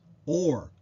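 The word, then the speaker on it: אור: to discuss is Strong's number 216 which is pronounced or and has the principal meaning of light or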